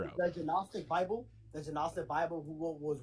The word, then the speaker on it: Gnostic: You can find the Gnostic Bible in uh Dorian, it's just not Dorian, the G is silent. It's just Gnostic.